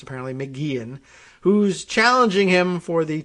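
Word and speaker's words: McGeachin: races governor little and estranged lieutenant governor janice mcgeehan i learned later on uh in here that it's pronounced mcgee and pronounced or spelled mcgeechen but it's pronounced apparently mcgean who's challenging him for the top job weren't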